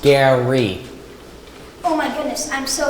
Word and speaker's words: Gary: Hi, Rary, is it? I'm Oba. No, it's pronounced Gary.